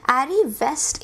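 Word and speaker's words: arriviste: Arrivest, ये जो शब्द है इसे हम arrivest की तरह प्रोनाउंस करते हैं, arrivest।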